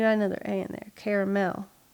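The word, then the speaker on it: Carmel: of people say Illinois I also say caramel it's caramel caramel Indiana caramel mentioned this on the last sounds like people around here trying to spit augia out they're like caramel like car caramel it depends on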